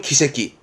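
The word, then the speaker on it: 奇跡: 발음은 기새끼, 기적의 기.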